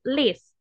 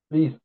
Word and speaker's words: least: family very good excellent the pronunciation Mr Francisco is list least Least Complicated in English list okay is the least complicated